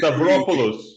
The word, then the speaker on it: Stavropoulos: Stavropoulos, Perfect.